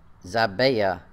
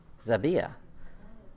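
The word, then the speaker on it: Zibiah: Jerusalem's mother name was xàbia Zibby oh yeah my pronunciation says the first eye is long the second eye is short in the a is short as I BIA BIA xàbia of Beersheba and joash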